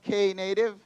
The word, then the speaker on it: Knative: native soak a native first things first it's pronounced Kay native a lot of times